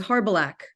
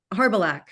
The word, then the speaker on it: Harbalak: It was Harbalak, which is Slavic. And I had it Harbalak.